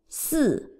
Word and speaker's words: 四: Try to challenge yourself by reciting each character in your mind by thinking the pronunciation, intonation, image, and meaning. Again, the five characters. 四 fourth tone.